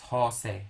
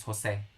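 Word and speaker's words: José: jose because guys in in spanish if you don't put an accent people would assume that the accent falls on the second to the last syllable is jose jose which is wrong because the the name is jose okay so if you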